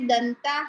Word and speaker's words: दंताः: जैसे यहाँ पे नीचे दंता हा आएगा ना, फिर हाँ, दंताः, आधा उच्चारण होगा उसका, विसर्ग का हा बोलेंगे नहीं, दंताः, दंताः।